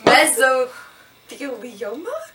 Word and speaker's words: mesothelioma: Mesothelioma? Okay, let's do it together. Wait, how do you pronounce it though? Mesothelioma. Mesothelioma. Like messy, and then like Thelma and Louise.